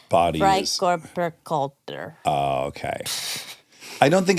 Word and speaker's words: Freikörperkultur: It's FKK because in German it's Body is- Freikörperkultur.